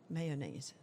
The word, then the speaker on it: mayonnaise: mayonnaise or pass me the mayonnaise may do you go two syllables or three mayonnaise I think I go three I feel like I